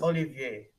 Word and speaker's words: Olivier: It's Olivier. Olivier? It's Olivier.